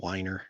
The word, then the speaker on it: Weiner: collector of micro cars he pronounces his name Wier FY Bruce Wier we trying to do